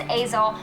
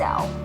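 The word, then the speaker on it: Aysel: this girl who was her name is azle which is not how you say it it's spelled a y se elders pronounced as L which they'd go into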